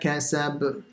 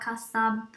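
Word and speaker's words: كَسَبَ: So the ba, you have to do qalqal on it. Kasab. Kasab. Yeah, but not as much as the first one.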